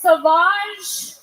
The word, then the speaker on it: Sauvage: Johnny Depp has a fragrance called Savage, pronounced Sauvage.